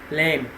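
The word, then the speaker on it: lamb: is silent 13 sheep lame lame B would be silent 19 utensils knives two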